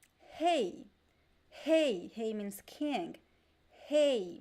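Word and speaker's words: rei: don't remember the other word that i said hey hey hey means king hey with the bone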